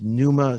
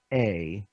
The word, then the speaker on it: Pneuma: The name of the company is Pneuma Solutions, and it's spelled with a P. Why? Because it's fun that way. But no, it's a Pneuma Solutions.